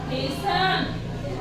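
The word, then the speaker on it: hasten: टी है silent T यानी कि यदि किसी वर्ड के एंड में टी ई एन दे रखा हो तो टी हमारा साइलेंट रहता है for example एस्टन एच ए एस टी इ एन तो इसको बोलेंगे हम हेसन इसको हम न नहीं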